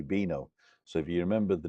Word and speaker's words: vino: yeah albino don't forget the v in Spanish is pronounced B so Vino is actually bino so if you remember